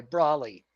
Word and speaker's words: Braly: BRALY, Brawley. That's how he pronounces it.